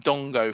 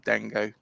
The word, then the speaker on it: Dango: Um, I used Do you know what people were calling him Dongo for a while and I called him Dongo, but you know, um, yeah, we call him Dango.